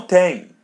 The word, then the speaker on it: tem: listen and repeat no Tang no. So the letter M is pronounced as ang the same as tang and bang.